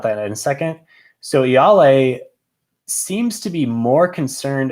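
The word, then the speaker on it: Ialai: word play with iyale i mispronounced her name in the last uh review that i did i think i said y'all lay i was trying to add too many l's and i got corrected there on discord so i'm gonna say right now yale probably won't have to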